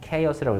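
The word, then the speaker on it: chaos: 그 다음 예문 보세요 카오스 아닙니다 케이어스라고 읽으시고 색칠을 대혼란이에요 프로테스트 한번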